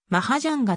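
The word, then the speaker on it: マハジャンガ: 現地語であるマダガスカル舗ではマハジャンがと読み書きするが学名に採用さ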